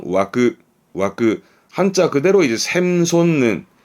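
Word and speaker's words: 湧く: 발음은 와그, 와그.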